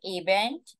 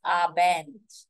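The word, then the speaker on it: Abend: as hen abent guten it is not aent it is abent make sure you're pronouncing it correctly guten abent goodnight is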